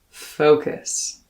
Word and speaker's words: focus: to know focus focus this word has an o spelling in the first syllable but instead of an ah or an o or even an uh we get an o notice how my lip corners moved when i said o like in goat or in whoa for